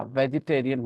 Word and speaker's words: vegetarian: लेकिन जब आप ये वर्ड यूज करते हैं तो उसमें ई साइलेंट नहीं रहा, वेजिटेरियन ही बोलते हैं, वेजिटेरियन।